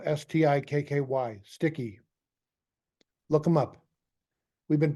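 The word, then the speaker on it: Stikky: That's spelled S-T-I-K-K-Y, Sticky.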